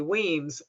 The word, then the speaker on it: Wemyss: been a long time and i am weems i use that additional name field here just to pronounce my name show people how to pronounce